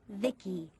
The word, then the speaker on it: VICI: By the way, I'm VICI, pronounced Vicky.